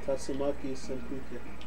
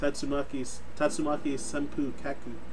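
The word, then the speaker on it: Tatsumaki Senpukyaku: Also, when people like teach other people the words, they pronounce the U at the end. Like, it's a Tatsumaki Senpu Kaku. They're saying, like, kick, but, like, it's just spelled weird because of, like, Japanese characters.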